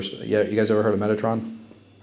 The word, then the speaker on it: Metatron: Metatron. Metatron. Yeah. Not Not Megatron. So change the G to a T.